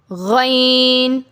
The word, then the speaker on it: غین: کی غلطی نہ ہو۔ آپ نے ذہن میں رکھنا ہے یہ دونوں حروف موٹے پڑھے جاتے ہیں، یا باریک یا پتلے